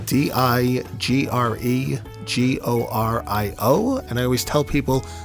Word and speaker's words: DiGregorio: And your last name is spelled? DiGregorio, DiGregorio.